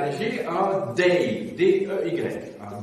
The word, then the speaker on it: dey: Vous aviez à Tunis un bey, B-E-Y, et vous aviez à Alger un dey, D-E-Y, un D, un B, un D. C'est pour être audible que j'ai prononcé en distinguant donc les voyelles.